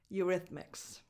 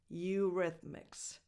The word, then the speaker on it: Eurythmics: Number 5, Eurythmics. Eurythmics. A lax E, as in the word it. And then a voiced TH, as in the. Eurythmics. Me. A lax E again.